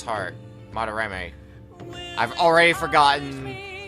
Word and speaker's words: Madarame: And afterwards we questioned him a bit about, Madarama's heart. Madarame. I've already forgotten how to pronounce his name.